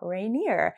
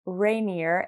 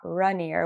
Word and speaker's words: Rainier: It does kind of make sense because it does say rain and then like I-E-R, so Rainier.